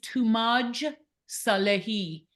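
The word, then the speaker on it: Toomaj Salehi: Banafsheh, how do you pronounce his name? I don't want to put. His name is Tumaj Salehi.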